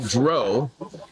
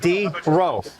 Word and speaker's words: Drow: And so when you say drow, it's closer to throw.